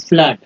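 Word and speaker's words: flood: जैसे देखिए एफ L double O डी फ्लड, M double O N moon, F L double R फ्लोर फ्लोर। यानी यहाँ पर फ्लड में अ उच्चारण हो रहा है, यहाँ मून में ऊ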